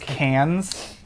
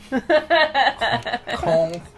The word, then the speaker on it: Cannes: It's pronounced cans. Con. Con. It's pronounced con.